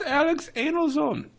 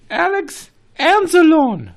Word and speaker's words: Anzalone: It was not Alex Anal Zone. Hey, Stat Boy, speaking of anal zones, hold on. I can see yours right now. Get a longer loincloth. All right, Stat Boy, how do you say it? Oh, you're not very nice, Mr. Lupagus. It's actually Alex Anzalone.